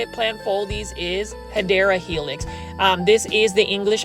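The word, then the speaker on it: Hedera helix: the correct way to say it plies is hideera helix.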